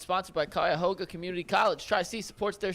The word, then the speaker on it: Cuyahoga: But it's Cuyahoga.